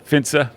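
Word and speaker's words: Finse: Am I pronouncing Finns right? Finns. Finsa, yeah, Finsa, no doubt.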